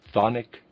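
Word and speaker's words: chthonic: This fact was observed and studied in its deepest meaning in the thic mysteries in Greece. Readers aside, thonic is spelled ch o n i c. Thic.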